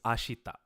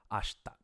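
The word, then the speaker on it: 明日: the vowel sound ashita the E kind of disappears as you're speaking quickly and it just becomes ashta so I'm trying to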